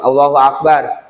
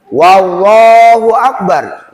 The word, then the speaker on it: Allahu akbar: Sebelum lafaz sebelum lafaz Allah itu tidak ada huruf wawu, tapi terkadang orang karena belum pernah ditalkin baca takbirnya, Pak. Karena hanya baru dengar doang, oh takbiratul ihram kalau sholat bacanya gitu, Allahu akbar. Sedapat-dapatnya aja. Ternyata wallahu akbar. Wah, itu jadi huruf qasam. Itu namanya huruf qasam. Depan itu namanya huruf sumpah. Ya. Nanti jadi maknanya berbeda.